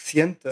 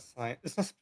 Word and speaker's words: Scientia: How do you pronounce it? It's Siena. Siena. Siena. Senthia, the royal scientist. It's not science.